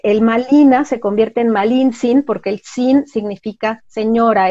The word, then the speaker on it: Malintzin: Y bueno, realmente, incluso su nombre, Malintzin, es un nombre que le dan los indígenas.